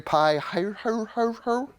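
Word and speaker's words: Pi-hahiroth: on this journey turn back and encamp near pie hire her that's how you pronounce that's hebrew between mgdol and the sea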